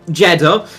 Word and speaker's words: Jeddah: along to the wow Jeddah um which rhymes with cheddar as some people know